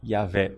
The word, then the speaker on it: Iahweh: deus é jeová jeová a pronúncia correta é ea velha porque as testemunhas de